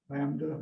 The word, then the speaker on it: lambda: So the sound is just like our hard G. Good, okay, but it's Greek. This letter, what do you think that is? Lambda.